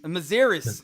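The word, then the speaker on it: Mazières: you had Jed McCaleb and David, is it Mazaris? Is that the Mazaris, proper pronunciation? Yeah. Mazaris on the live with everybody.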